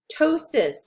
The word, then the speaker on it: ptosis: Ptosis, again, you don't pronounce the T, or the P, I'm sorry, you don't pronounce the P in the front, you pronounce the T.